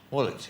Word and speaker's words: Woolwich: And there was a gentleman by the name of George Osmond who spent a lot of time in, how do you pronounce it, Woolwich? Woolwich.